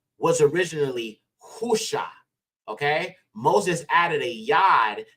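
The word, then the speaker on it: הושע: is Hosea in the English but this is pronounced husha husha now again when people say his name is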